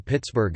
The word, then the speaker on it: Pittsburgh: Conversely, the digraph gh is never pronounced f in syllable onsets and is almost never pronounced in syllable codas. The proper name Pittsburgh is an exception.